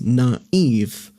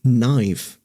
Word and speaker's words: naive: what I wrote before to indicate it is naive and not knife.